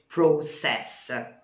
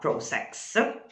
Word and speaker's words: process: With a political process, but It's the political process, not process.